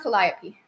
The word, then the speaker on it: Calliope: It's pronounced Calliope.